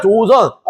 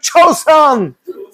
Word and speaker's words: 조선: 이렇게 물어봤는데 조선이야 조선. I got it. 초선. 초선이 아니고 조선이라니까 얘 제 발음이 안 되네.